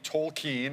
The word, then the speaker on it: Tolkien: detective Pikachu gets right okay we've been talking tole keen and we know how to say it now